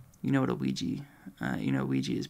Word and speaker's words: Ouija: Ouija is pronounced Ouija.